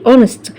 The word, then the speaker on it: honest: عندي honest الاتش سايلنت ما بتتنطقش، فهنا معناها doesn't lie يعني ما بيكذبش، عنده امانه.